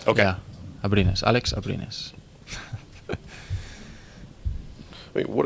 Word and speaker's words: Abrines: Can we get the correct pronunciation of your last name, please? Yeah, Abrines. Abrines. Is that with a kind S, of a like what? Kind of like an SH at the end?